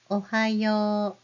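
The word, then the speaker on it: おはよう: Ohayo. The very last u is for O sound.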